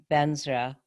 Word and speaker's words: vajra: we do 100 ohm benzera which is a tibetan pronunciation of vajra um benzer to whom